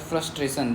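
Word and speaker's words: frustration: फ्रूस याद करना, फ्रस मत बोलो, फ्रूस बोलो, फ्रस्ट्रेशन, ताकि आपको स्पेलिंग लिखते बने, नहीं तो ए कर दोगे, दिक्कत हो जाएगा ना, इसलिए फ्रस्ट्रेशन बोलते हैं, ठीक है।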